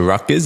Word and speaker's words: Rutgers: and you make the decision to transfer to Rutgers. Is that how you say it? Yes, yeah, Rutgers, yep.